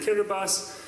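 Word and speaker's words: Kiribati: So, for example, I visited Kirbas, which um is for those of you who don't know how it's spelled, it looks like Kiraabati, but it's spelled Kirabas.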